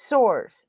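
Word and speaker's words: Sborz: that i have with all the uh pronunciation pronunciations of the player's names i looked him up josh soares is his name okay he's 27 years old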